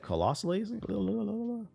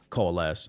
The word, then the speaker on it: coalesce: The team had momentum and the project was, how do you pronounce that? Colossally? Going along well, I would imagine. That's what that means. Coming together and going along well. Coalesce.